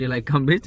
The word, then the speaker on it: Tillicum Beach: है इसका नाम है टीला कम बीच टी आई ड एल आई सीय एम बीच लाइ कम बीच तो इसके यहां पे प्रोनाउंस करते हैं लाइ कम बीच बड़ा ही इन्होंने वियर्ड